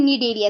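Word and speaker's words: Cnidaria: Cillian ट्रेटा का member है student Cillian ट्रेटा phylum को दूसरा नाम हम लिखते हैं निडरिया ठीक है निडरिया सी साइलेंट होता है यहां पे अब बात करते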